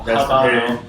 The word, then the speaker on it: Habano: I pronounce that hard H just for hitting the Habano.